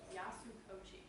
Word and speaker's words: Yasukochi: And then we also have Colin Yasuchoki.